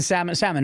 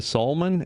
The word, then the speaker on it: Salmon: Salmon, actually. Salmon. Yeah. See, there we go. Do you get salmon a lot? A lot. Yeah, it's because it's spelled. Is it spelled? Yeah, it's spelled like the exact same way, like that. But it's Sal. It's Saul, like Better Call Saul.